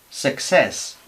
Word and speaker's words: success: Esta primera C sería K y esta segunda sería S. Success.